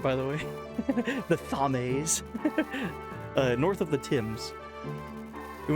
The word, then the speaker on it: Thames: I'm gonna start pronouncing that right, by the way. The Thames.